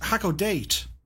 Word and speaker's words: Hakodate: Catbat says, by the way, it's pronounced Hakodate. Hakodate?